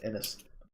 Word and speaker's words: Ainz: I think I've been pronouncing that wrong in the last few podcasts. I would say Innis.